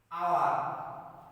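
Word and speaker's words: hour: যেমন উদাহরণ হিসেবে দেখতে পারি আওয়ার, এখানে কিন্তু আমরা হাওয়ার বলছি না, কি বলছি? আওয়ার, অর্থাৎ এইচের উচ্চারণ ওখানে নেই, সুতরাং কি হচ্ছে?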